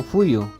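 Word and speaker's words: Puyu: Acá abajo tengo Fuyu, se escribe con P pero la pronunciación es con F.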